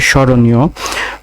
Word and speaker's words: স্মরণীয়: স্মরণীয়, স্মরণীয় বানানের প্রমিত উচ্চারণ হবে তালিবাস শয় চন্দ্রবিন্দু, রৌকার, দন্ত নয়সী, অন্তস্থ অকার।